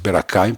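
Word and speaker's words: Bir-Hakeim: la Tourifel qui s'appelle Birim. Normalement, il est devenu Berakaim. Le français disent berak parce que c'est H, on prononce pas H.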